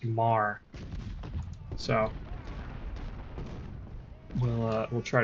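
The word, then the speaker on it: Meagher: Uh, this looks like it's spelled meager, but apparently it's uh pronounced mar.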